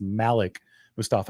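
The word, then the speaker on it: Malik Mustapha: press conferences, even said, this is the correct pronunciation, is Malik Mustafa instead of Malik Mustafa. So it's Malik Mustafa.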